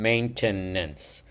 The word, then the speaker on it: maintenance: And then we were missing two letters from maintenance, right? E n n. Main- tenance, it's three syllables.